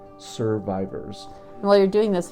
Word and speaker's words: SRVIVRS: And it's spelled a little different. It's SRVIVRS. So we serve so I can survive. Survivors.